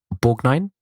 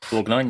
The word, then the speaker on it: Borgnine: We've got Kurt Russell leading, Lee Van Cleef of the Dollars trilogy fame, Ernest Borgnine, I think is pronounced. Borgnine, yeah.